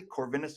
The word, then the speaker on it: Corvinus: corvinus University of Budapest and zomor did I pronounce that correctly corvinus University yes yes Sor your pronunciation was correct